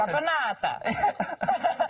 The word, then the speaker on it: Caponata: Your pronunciation is very good. It's Caponata.